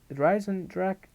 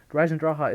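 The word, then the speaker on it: Der Eisendrache: But Horizon Drak, it's actually pronounced Draha, not Drak, but Horizon Draha is an amazing map.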